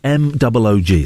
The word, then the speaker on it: Moog: His name is Robert M-O-O-G. Last name is M-O-O-G. Everyone says Moog. It's not Moog. It's pronounced Moog.